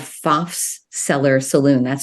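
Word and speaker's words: Pfaff's: probably the first Bohemian bar in America called fafs seller Saloon that's spelled p-f-a-f-f apostrophe s and Charles faf was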